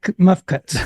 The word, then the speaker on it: mfkzt: say this mfkzt T there's no vowels in it muff muff Cuts okay muff Cuts they not bowels but it's muff cuts the ancient Mesopotamians called